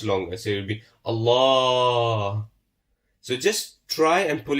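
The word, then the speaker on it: الله: of Allah, we said if there's a fatha before it, you pronounce the Lam of Allah with a full mouth. So it will be Allah. It won't be Allah. So you pronounce with a full mouth, Allah.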